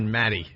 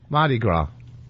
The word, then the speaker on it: Mardi Gras: dictionary what is Mardi Gras he almost said Maddie Maddie what is Mardi Gras its celebrate I totally I don't know the festival how do you say it Mardi Gras and how do you spell Mardi Gras ma